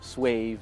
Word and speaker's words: suave: suave on the board, S-U-A-V-E. and everyone in class is pronouncing it suave or suave, and then the teacher says, no, it's pronounced suave, and this is what it means.